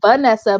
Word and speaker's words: Varnessa: name is spelt my name is pronounced vanessa but it's spelled like varnessa so it's v-a-r in the ssa so varnessa and if you just